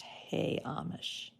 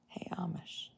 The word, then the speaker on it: Hamish: a little bit nuts it's pronounced hey Amish oh well that's good that's a good way to say it hey Amish cardi B said the